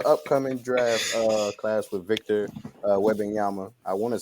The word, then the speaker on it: Wembanyama: Granted, everybody, we talking about the upcoming draft class with Victor Wembanyama. I want to say that's how you pronounce his name.